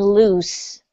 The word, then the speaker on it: loose: When you say the Z sound, the Z, that's when you can feel it in your vocal cords. That's right. You feel it in your vocal cords, and your vocal cords are vibrating. So you can pay attention to when your vocal cords are vibrating. And that's how you know the difference between lose and loose.